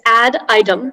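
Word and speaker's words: ad idem: uh the information sure so the word is add item that's the only pronunciation it's an adverb from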